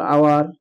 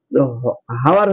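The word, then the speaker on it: hour: তাহলে এটা এইচ হচ্ছে, এইচ আছে, হাওয়ার হচ্ছে না, কি হচ্ছে? আওয়ার। কারণ এখান থেকে এইটুকুর উচ্চারণ হচ্ছে, ও ইউ আর আওয়ার যেমন হয়, এইচ থাকলেও হচ্ছে না।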